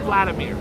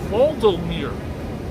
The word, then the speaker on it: Volodymyr: Ukrainian President Vladimir, it's not Vladimir, it's spelled different. It's Volodymyr. It sounds like a guy from Lord of the Rings.